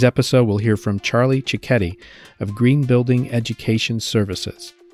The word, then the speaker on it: Cichetti: a fellow named charlie cicchetti and he pronounces that like spaghetti is that right charlie